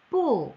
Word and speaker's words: 不: 뿌, 부라고 읽으시면 안 되겠죠. 사성이니까 뿌, 뿌망.